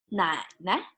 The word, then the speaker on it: 奶奶: And on your father's side, grandma, 奶奶, 奶奶.